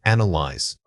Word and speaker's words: analyze: Say it again, analyze. This word is often mispronounced with too many syllables or a misplaced stress.